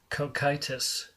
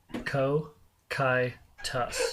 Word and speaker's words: Cocytus: Cocytus. Co-kai-tus.